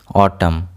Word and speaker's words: autumn: Here N will be silent. Autumn. Autumn. Here N is silent.